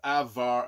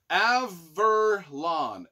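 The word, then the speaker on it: Averlaan: living in the underbelly of the city of avvar I think it's it's how is this spelled Avalon a-v-e-r-l-a-a-n Avalon the most ancient of cities in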